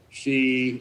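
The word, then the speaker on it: Xi: rome burns talking about she and putin and i don't think that she even though his name pronounced she i don't think he's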